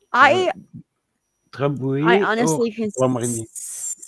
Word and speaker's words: Grand Marnier: Mama Coop, do you I drink liquor like brandy or uh, I I Drambuie or honestly can Grand Marnier?